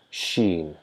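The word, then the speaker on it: شين: raise towards that palate when we try to pronounce sheen, sheen, just almost similar to the position of jeem, jeem, jeem, right? Sheen, we try to touch our tongue towards the hard palate and throw out the sound. Throw out the air from between our teeth.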